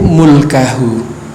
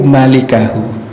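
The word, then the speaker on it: مالكه: Ternyata kalau kita mendengar langsung dari seorang guru, bacanya bukan mulkahu, ai malikahu, pemilik wajah.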